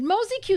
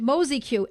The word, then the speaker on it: Mozi-Q: Oh, someone recommended Mosquito, says Mindy.